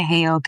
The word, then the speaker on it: Heyoka: Heyoka.